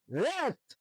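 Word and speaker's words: wrath: ডব্লিউ আর এ টি এইচ, রেট। এখানে এখানেও আসছে যে ডাব্লিউ উচ্চারণ হয়নি, আরটা উচ্চারিত হয়েছে।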